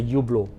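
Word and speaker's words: Hublot: the actual pronunciation is there's a silent h silent he so it's a you blow it's a Malaysia you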